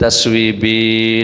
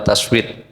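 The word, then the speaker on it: تثويب: wafit taswibi. Dan dalam pengucapan taswid ya taswid ya. Ini istilahnya taswib.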